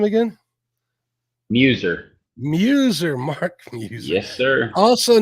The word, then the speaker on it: Muzer: Muser.